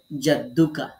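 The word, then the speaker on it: جَدُّكَ: একবার এরকম সাকিনের মতো উচ্চারণ করতে হবে, আর একবার নিজের হরফের উপর যে হরকত আছে, দেখেন এখানে দালের পরে পেশ আছে, এটা এখানে দালের পরে পেশ আলাদা করে আমি দিয়ে দেখিয়ে দিয়েছি, যে জাদ্দুকা।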